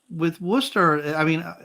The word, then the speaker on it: Worcester: Yeah, we say Worcester because we have that. Did I say it right for you or no? We'd say Worcester.